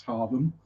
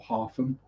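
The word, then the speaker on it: Hargham: in Harlem Woods uh spelled h-a-r-g-h-a-m pronounce Harlem um or half them even depending on how Norfolk you are um had a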